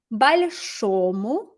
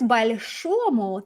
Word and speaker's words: большому: Okay, so notice большому, the stress was on this syllable, and that's because in the original of the adjective, the stress is on the final syllable as well. So we keep it on the final, we keep it on the o, even in the dative ending.